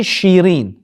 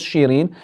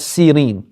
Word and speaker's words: Shirin: Sirin is actually Shirin. Her original name was Shirin, but the Arabs would pronounce it as Sirin.